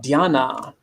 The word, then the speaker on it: dhyana: Which, okay, perfect transition again into the next one, which is dhyana.